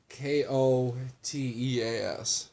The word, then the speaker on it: Koteas: And he's actually played by Elias Koteas, and I think that's how you pronounce his last name, but I'd have to read it. no one... Koteas.